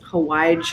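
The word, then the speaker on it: hawaij: blend for pickles is hawaii spice it's a yemenite almost curry like spice blend um and it's spelled like hawaii but it has a j on the end so it's h a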